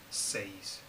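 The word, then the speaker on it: seis: from zero to ten one of them is six because six is spelled s-e-i-s says but english people want to put the i before the e um and so they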